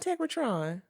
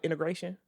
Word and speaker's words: Integratron: It ain't called Integratron. You think it's called integration?